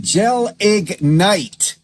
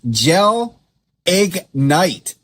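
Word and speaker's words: gelignite: It is pronounced gel egg night.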